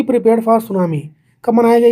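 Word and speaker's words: tsunami: यह स्टार्ट होता है टी से। सुनामी।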